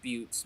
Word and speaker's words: Butts: It's spelled butts, but he's always said Buttes because he doesn't want to get made fun of.